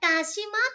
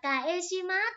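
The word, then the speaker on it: かします: Câu 13, chữ này là kashimas thôi chứ không phải là kaeshimas này.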